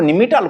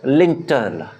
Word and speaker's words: lintel: जाई थाए सेटा को निमिटाल कहा जाए नहीं ए spelling LINTEL this is लिंटल this is लिंटल नॉट निमिटाल but this is लिंटल आपण घर करिसंती आपण